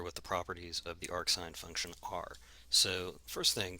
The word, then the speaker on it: arcsine: you do pronounce it even when it's written that way you do pronounce it as arc sine okay so what are